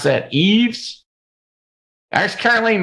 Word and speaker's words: Yves: That's the way you pronounce that. Yves.